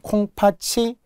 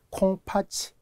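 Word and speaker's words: 콩팥이: 자, 심지어는 우리가 발음 뒤에 표준 발음 때문에 학생분들이 굉장히 헷갈려하는 콩팥치, 콩파틀 뭐 이런 거 있잖아요. 얘는 이모음이기 때문에 구개화가 되어서 치가 되죠. 콩팥치.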